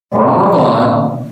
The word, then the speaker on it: Ramadan: Ramadan aslinya kan ro mim d alif nun. Pak dibacanya panjang ya. Ramadan masuk Indonesia jadi Ramadan. Ini orang Indonesia maunya making simple, enggak mau ribet, enggak mau riwuh. Makanya di KBI Ramadan itu tanpa H.